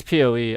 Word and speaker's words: PoE: So this person's saying that PoE chat, like basically Po chat. I'm saying Po, but it's PoE.